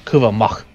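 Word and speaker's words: Kuvah'Magh: So that is how you pronounce it, Kuva Mach. Or Kuva Mach, actually. Keep forgetting there's that little sound in your throat.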